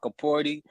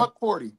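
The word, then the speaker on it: Hukporti: I told y'all about Huckaporty. But what I noticed, I think it's actually because Yeah, who is Huckaporty, bro? Huck Porty, Who You is always add the Huckaporty?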